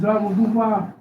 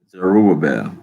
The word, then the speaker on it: Zerubbabel: Zerubbabel. Zerubbabel. Zerubbabel.